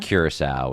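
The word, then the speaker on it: Curaçao: So the B is Bonaire, which you may not have even heard of, and then Bermuda, Curacao, which does not look like it's spelled.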